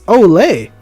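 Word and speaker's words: au lait: never mind it's olay is a french word pronounced as olay which means prepared or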